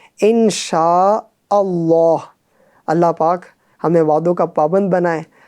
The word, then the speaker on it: इंशा अल्लाह: सही उच्चारण बहुत अभ्यास। वह है, इंशा अल्लाह। यानी, कई मध्य हमजा और अलिफती इसे छोड़ देना। सही ढंग से पढ़ें नहीं। इंशाल्लाह। इंशाल्लाह, ऐसा नहीं, बल्कि इंशा अल्लाह।